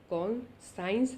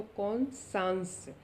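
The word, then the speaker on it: conscience: तो बेटे इसकी प्रोनाउंसिएशन आप अच्छे से चेक कर लेंगे इस वर्ड की, CON, उसके बाद आपका साइंस है SCIENC। कौन, साइंस नहीं पढ़ना इसको, कौन सांस।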